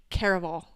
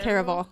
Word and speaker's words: Caraval: the caral series okay wait it's caraval car car caraval or caraval we've been saying it wrong this entire time someone comment someone comenting yeah someone commented on our Tik Tok and was like the way you guys say caraval sends me caraval caraval anyways highly